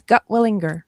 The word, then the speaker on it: Gutwillinger: Okay, tell the world your last name because I butchered it and I apologize. You did not. You did very well. It's Gotwalinger.